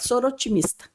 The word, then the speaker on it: Soroptimista: O pezinho a gente às vezes nem pronuncia, ele existe ali, né? Então a gente fala sor otimista, né?